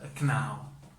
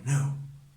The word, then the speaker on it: know: For example, some people pronounce some people maybe pronounce this knaw. I knaw something, but in real pronunciation, in accurate pronunciation, we need to say I know.